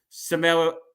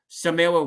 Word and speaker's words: Samara: the Cameo appearance from Samara I think her name is I think she pronounced it Samira weaving it's that that was